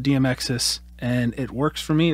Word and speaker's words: DMXIS: cool little box called DM exes or DMX is however anyone wants to pronounce it I call it DM exes and it works for